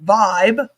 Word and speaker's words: VYB: Vibe, which is spelled V YB, but it's pronounced Vibe, was introduced as a new platform in December